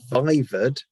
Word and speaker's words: viva: Yeah, it's short for viva voce, which is an exam that is oral rather than written. And it's pronounced viva rather than viva.